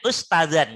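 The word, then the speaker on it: أستاذًا: Membacanya ustazan gitu. Padahal di situ ada alif. Karena ada alif harus panjang.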